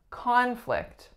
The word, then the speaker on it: conflict: a noun we have conflict conflict so the first sound is AA that is our winner the second sound is